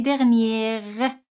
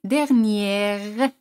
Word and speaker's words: dernière: El año pasado, l'année dernière. Aquí la R se pronuncia porque l'année es un sustantivo femenino. L'année dernière.